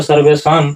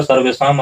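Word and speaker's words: सर्वेषाम्: पर देखिए निर्गतिना च सर्वेम अलस प्रथमो मत यहां उच्चारण क्या होगा सर्वेशाम अलस तो निर्गतिनाम च सर्वेशाम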